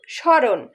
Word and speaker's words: স্মরণ: শব্দের আদিতে ম ফলা থাকলে সেটা উচ্চারণ হয় না।